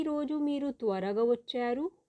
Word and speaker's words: వచ్చారు: ఈ రోజు మీరు త్వరగా వచ్చారు। ఈ రోజు మీరు త్వరగా వచ్చారు। ఈ రోజు మీరు త్వరగా వచ్చారు। VACCHARU। आपको इसकी स्पेलिंग फिर से बता रही हूँ इंग्लिश में।